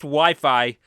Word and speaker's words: Wi-Fi: my early teenage days when I would pronounce wifi wey. Yes, we It's It's strange and funny looking back on it, but I was proven it was pronounced Wi-Fi back during a visit to the vet for one of my cats.